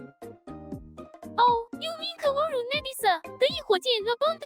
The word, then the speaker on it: Kaworu: Kaoru? Okay. I've been wanting to watch Eva. Like rewatch Eva. Kaworu. Wait, Kaoru or Kaworu?